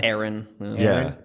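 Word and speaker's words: Aran: Ryan yeah that's Metroid Samus Aon oh is it R aan H yeah I've seen it heard it pronounce both ways oh really or say Aaron okay all well I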